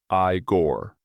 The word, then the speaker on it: Igor: That's pronounced I-Gore.